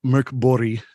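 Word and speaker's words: Mörk Borg: y but that's so in Swedish uh there is no real G it's it's pronounced more like a j and their J has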